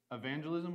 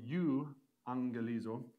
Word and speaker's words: evangelism: the word for gospel when we say the word evangelism we don't say you angelizo we say EV angelism why is that because that you get that EV so even in English